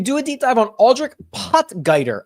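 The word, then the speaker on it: Aldrich Potgieter: a deep dive on aldri potger I believe is how he pronounces it I don't know if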